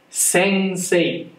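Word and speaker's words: 先生: 読み方は、先生です。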